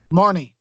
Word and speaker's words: Marnie: her marina I think that name is better Marnie Marnie how do you spell it ma are and I am and she